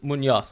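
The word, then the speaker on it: Muñoz: I would say Munoz, but then a Colombian might actually say Munoz, because the way they pronounce the Z or the Z is slightly different. I would say Munoz as a Spaniard, but yeah.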